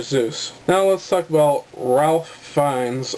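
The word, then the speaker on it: Ralph Fiennes: now let's talk about Ralph fines or at Ray finds as he likes to be called but I'm going to call him Ralph I'm sorry dude your name is spelled Ralph so I'm going to call you Ralph get over yourself he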